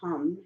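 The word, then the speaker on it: ham: So it sounds like hum, even though it's spelled hum, H-A-M.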